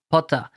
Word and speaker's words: Pothin: at 100 correct yeah in french it's puta potter so it's potter yeah exactly i like